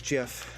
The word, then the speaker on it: GIF: Or I guess, yeah, it is jiff, as we found out after the creator of it passed away. One of his legacies is that, dang it, it's pronounced this. It doesn't make any sense in my brain.